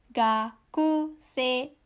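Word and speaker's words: がくせい: Atau misalnya gakusei, ya. Nah, tapi karena bunyi i-nya ini setelah bunyi e, bacanya menjadi gakusei, ya. Gakusei, dari bawah ke atas.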